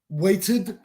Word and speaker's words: waited: is correct weights and waited now is waited waited no waited waited for against we pronounce the Ed waited so true so the